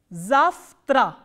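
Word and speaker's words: завтра: so what happens is this ver will be pronounced as pronounced as fir which is the voiceless counterpart so this combination of letters will be pronounced as zavtra zafra what has become for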